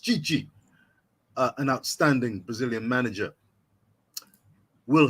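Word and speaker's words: Tite: And Chichi, T-I-T-E, pronounced Chichi, an outstanding Brazilian manager, will have to pick 33 to 55 players, not spoiled for choice.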